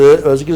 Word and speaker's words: özgül: kapasitesi eşittir Özgül ısı Özgül ısı bakın böyle sye benzeri ancak Z okunur Biz s de sayilik